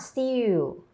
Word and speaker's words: still: You're saying it with the letter W. Still is spelled S-T-I-L-L. So it's st-ill. St-ill. Stretch your mouth. Eel. Eel. There you go, you got it.